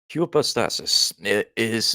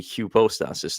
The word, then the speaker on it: hypostasis: Hupo means supreme, but hupo, I've been pronouncing that wrong. It's actually hupostasis, not hypostasis.